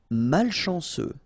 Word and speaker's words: malchanceux: Malchanceux. Final X not pronounced ce mal chanceux.